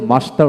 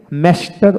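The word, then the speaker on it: master: মাস্টার এখানে দেখেন মাস্টার ব্রিটিশে মাস্টার উচ্চারণ করা হয় আর আমেরিকানে ম্যাস্টার উচ্চারণ করা হয় ম্যাস্টার কিন্তু আমরা ম্যাস্টার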